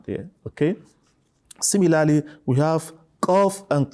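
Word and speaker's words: ق: Similarly, we have qaf and kaf. So it shouldn't be pronounced as kaf or kef.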